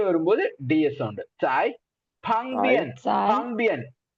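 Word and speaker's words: 旁边: வரும்போது DS sound Sai பங்பியன் B sound வரும்போது இப்பு ஸ்ட்ராங் ஏர் பஃபோட ப்ரொனவுன்ஸ் பண்ணுவோம் பங்பியன் beside next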